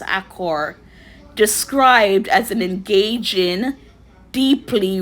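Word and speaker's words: Achor: by Sean, I think the last name is pronounced Accor, described as an engaging, deeply researched guide to flourishing in a world of increasing stress and negativity.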